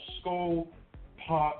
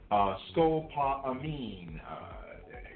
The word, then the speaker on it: scopolamine: a MKULTRA truck call skull pot I mean skull I might be mispronouncing it scopolamine Capital SC ope Oh